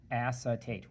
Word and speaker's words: acetate: will not like it's acetate excuse me acetate acetate so three syllables three letters c two